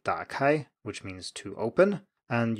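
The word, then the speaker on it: 打开: with a word like dark high which means to open and you say something like dark eye you have a rising tone at the beginning instead of a low tone as the third tone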